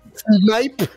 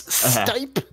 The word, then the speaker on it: Stipe: It's not snipe, like S-N-I-P-E. It's Stipe. Hey, I got it. It is Stipe.